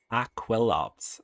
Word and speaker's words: Aquilops: Aquilops.